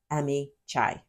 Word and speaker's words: Amihai: Although the jury did not hear the middle name, we know the name was Amihai. I did look up the pronunciation, and I heard it was that pronunciation, as well as Amichai.